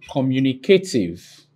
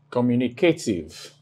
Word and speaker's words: communicative: Now, this is the last syllable, and this is second to the last syllable. Here is the third to the last syllable. You place the superscript vertical mark before it. That's to indicate stress.